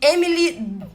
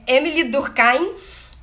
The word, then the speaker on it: Émile Durkheim: no século 19 é chamado de emily eu acho que é durkheim que fala que pronuncia o nome dele tá mas é emilie durkhein francês tá a francesa fala inglês francês não tal é émile durkheim e em 1897 dele